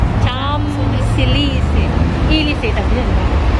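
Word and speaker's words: Champs-Élysées: Huwag mong bibigyasin yung P. Cham. Silisi. Ilisi. Tabi yan ba? Cham Silisi.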